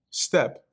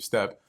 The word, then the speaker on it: steppe: Looks like I wasn't pronouncing it right. Steppe. Yep. So steppe, not steep, steppe.